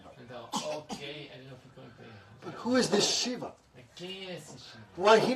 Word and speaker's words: Shiva: is this Shiva shiv Shiva Shiva two syllables means auspicious Shiva but D criticize him